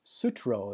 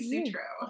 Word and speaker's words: Sutro: She's an author, and her name is, and I believe the last name is pronounced Sutro. Am I correct? You are correct. It is Sutro.